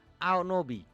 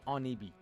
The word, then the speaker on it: Onibi: Aonobi. Onibi. The pronunciation should be Onibi, because Onibi is something that is related to ancient Japanese culture.